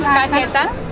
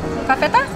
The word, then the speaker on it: cajeta: And this is, how do you say it in cajeta. Cafeta? Cajeta. Cajeta. Caramel.